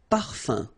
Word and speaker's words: parfum: So it's nasal and it's un. So it really goes in your nose. You don't pronounce the M at all. Un. Okay? So par, fin, parfum.